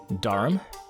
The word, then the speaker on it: Durham: to you d u r h a m darham that is correct okay thank you yes yeah